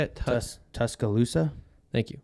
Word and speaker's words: Tuscaloosa: tuscala how do you say it tus tus Tuscaloosa thank you Tuscaloosa so they went in and won in Alabama